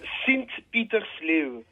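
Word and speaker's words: Sint-Pieters-Leeuw: Comment on prononce ? Comme ça. Sint-Petersleeve.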